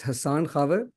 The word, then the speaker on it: Hassan Khawa: It's Hassan Khawa, but my name is the most often mispronounced, so no problems with that.